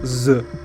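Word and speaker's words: З: Sounds like Z. That's it. Capitalizing is awkward. C tier. That's how we pronounce it.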